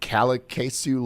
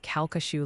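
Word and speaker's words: Calcasieu: south of Hackberry near caku Lake he in Louisiana cesu Lake near Hackberry what how do you say that like the locals that's kashu lake near Hackberry Louis dude I've said that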